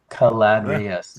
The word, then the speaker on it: Caladrius: And the trick with pronouncing it is in Latin, they pronounce every syllable. So if you look at it as Caladrius Network. Caladrius.